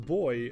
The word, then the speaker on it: Buoy: Oh, Yato van de Data 1 says it's just pronounced boy. Oh, okay. Forget about the U.